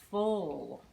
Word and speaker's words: foal: baby horse is called it rhymes with coal a baby horse is a foal can you say full